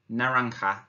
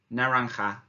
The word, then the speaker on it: naranja: for orange is and listen carefully to the pronunciation narang ha naranja naranja excellent him we bien